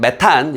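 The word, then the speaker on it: methane: 자, 상업적 낙농업은 막대한 양의 물을 소비하고 폐기물과 우리끼리 발음은 메탄, 영어식 발음은 메세인이라고 하는데 메탄을 배출하고요.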